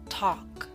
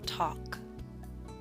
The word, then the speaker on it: talk: yawn boss taught gone talk note the l is silent in talk now i wish